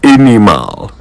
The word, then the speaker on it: animal: quick lesson in pronunciation how would you say this word a n i m a l I'll give you a hint it's not animal and it is definitely not animal it's animal the second a is silent animal comes from the